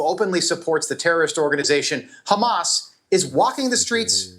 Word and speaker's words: Hamas: I I the pronunciation, by the way, the terrorist organization Hamas, it's Hamas.